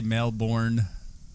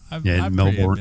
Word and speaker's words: Melbourne: Yeah, you don't say Melbourne. Melbourne.